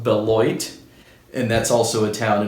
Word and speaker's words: Beloit: boots there's another style it's called the I pronounced it Bell Wat in my last video it's actually pronounced Beloit and that's also a town in Wisconsin established